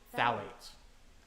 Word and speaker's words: phthalate: Phthalate. There we go. Phthalate. Phthalates. Phthalate. Oh, hell yeah.